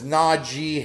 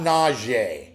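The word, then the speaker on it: Najee: you get it right the man's name is Naji Harris it's not nausea everyone pronounces it nausea they're trying to be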